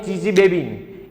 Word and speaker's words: Chichibabin: ये यहाँ पे TS जो आपको दिखा रहे हैं ना, ये साइलेंट है। जैसे सुनामी, तो सुनामी नहीं बोलते, उसमें TS है, जो तो है वो साइलेंट होता है। साइकोलॉजी में पसाइकोलॉजी नहीं बोलनी है, उसमें P क्या होता है भैया, जो साइलेंट होता है ना, ऐसे TS यहाँ पे साइलेंट है।